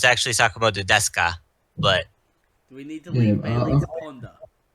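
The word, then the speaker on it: ですか: This Shizuka voiced Miki from Sakamoto Desuka. Bailey should know this character. He's watched Sakamoto. Yeah, I love Sakamoto. Desuga?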